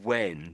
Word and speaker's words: when: I think there's a W in front of the H. Most of the time, perhaps even all of the time, it's silent. So, there's the word when just here.